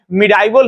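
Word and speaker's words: medieval: तो मध्यकालीन भारतीय इतिहास कहेंगे, है ना, जिसको लोग मेडिवल हिस्ट्री या प्रोनाउंसिएशन में अलग अलग, मिडाइवल हिस्ट्री अलग अलग जो बोलते हैं वही बात है।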